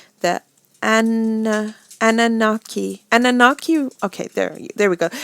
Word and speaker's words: Anunnaki: an alien race and it's that and Annunaki Annunaki okay there there we go the Anunnaki alien race have controlled the defeat the teachings